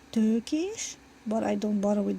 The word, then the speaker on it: Tökés: And technically it's pronounced Tökés, but I don't bother with that, so just.